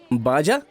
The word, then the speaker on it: Baja: बाजा।